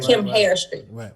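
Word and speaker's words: Chemhairstry: is kim hair street so it's like chemistry but kim hair street c-h-e-m-h-a-i-r-s-t-r-y dot com comparison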